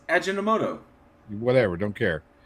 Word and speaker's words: Ajinomoto: Ajinomoto. Ajinomoto or some shit. Ajinomoto. All right. Okay, so I guess this is where they are frauding. Their First and Second Amendment. You can't pronounce that. It's Ajinomoto.